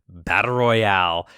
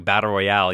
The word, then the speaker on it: Battle Royal: the 1980s and WWF Battle Royale at WrestleMania or something I don't know it just kept I kept coming back to Battle Royale even though it's Battle Royal so I say it wrong I'm apologizing from the